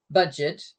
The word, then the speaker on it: Budget: the word in English budget but in German it's pronounced the French way so we' got French